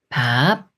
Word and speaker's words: 밥: 한 번 더 알아볼게요 먼저 비읍 받침 위에 있는 부분을 읽어요 브 아 바 바 여기에 의을 앞에서 바 밥 밥 이렇게 비읍 받침이 있는 글자는 바침 윗부분 글자에 읍 소리를 합해서 읽으면 돼요 리을 비읍 겹받침이 있는